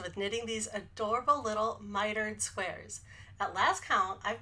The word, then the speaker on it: miter: so the quick pronunciation of miter I think of it as rhyming with tighter lighter and brighter miter I've been experimenting with